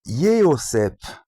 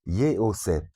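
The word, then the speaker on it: Yehosef: Mais même le mot Joseph, c'est le diminutif de Yéosef, 3 syllabes, Yéosef. Donc, et ça commence par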